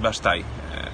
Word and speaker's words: Bastei: Całość kręciliśmy w Górach Stołowych i Basztaj. Czyta się, pisze się Bastei.